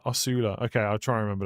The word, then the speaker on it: Osula: It's pronounced Osula. Osula.